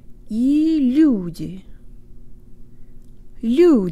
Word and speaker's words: лю: of it is that it's an L with a slight Y sound built in yee-hee-hee if you combine